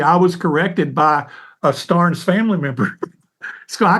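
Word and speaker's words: Stearns: was corrected by a Stars family member so I called him shuel Sterns you know and she said you know Pastor Phil we pronounce our name star and she said really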